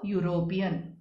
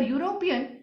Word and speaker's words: European: union a uniform a european a unit a unicorn so here european e is a vowel but the sound is you so further alphabets which